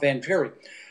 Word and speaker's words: Vangieri: pronounced Bob Vangieri, and turns out he'd been watching the show